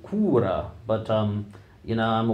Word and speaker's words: Kaare: But I looked up the Norwegian pronunciation guide, and they were going with Kura.